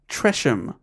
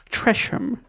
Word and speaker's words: Tresham: name well you're gonna Francis Tresham that's fine that sounded a bit like one of mispronunciations trash him thanks Trisha that sounds